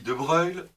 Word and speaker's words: de Broglie: Alléluia notre ami Louis de Broglie, donc, et on dit bien de Broglie et non de Broglie, puisque ça s'écrit de Broglie, mais on dit de Broglie, c'était un physicien d'origine